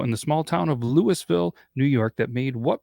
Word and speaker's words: Louisville: It's spelled Louisville, but it's actually pronounced Louisville, and it's a small town in St.